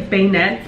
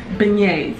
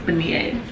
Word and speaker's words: beignets: how you say it i was gonna say bayonets but i know i'll get tons of hate in the comments beignets i think it's baniers but i'm making them there's